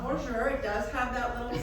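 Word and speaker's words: Boozhoo: Not bonjour, not bonjour. It does have that little sound of bonjour, but it's bonjour. Bonjour. It's spelled B-O-O-Z-H-O-O.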